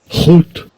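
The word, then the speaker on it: חוּט: Strong's H2339 Hoot Hoot.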